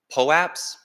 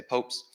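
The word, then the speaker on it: POAP: represented on the blockchain and they're unique uh pull apps that's how I pronounce it that's how the company that creates some calls it but there's lots of pronunciation lots of people say popes um it just stands for proof of attendance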